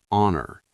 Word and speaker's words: honor: Some H words are silent, like hour, honest, honor, heir.